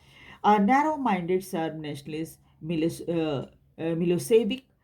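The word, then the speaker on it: Milošević: Narrow minded SERB nationalist मिलोसेविक और मिलोसेविच, उनका pronunciation जो है मिलोसेविच होगा, मिलोसेविच हैड वन the election.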